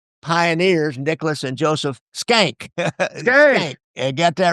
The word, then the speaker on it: Schenck: Schenck.